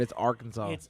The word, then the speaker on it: Arkansas: say that word up but it's arkansas it's it's arkansas colored all alzheimer's for old-timers yeah